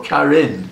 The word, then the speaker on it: Karin: Or Karin? And actually, I believe it's pronounced Karin.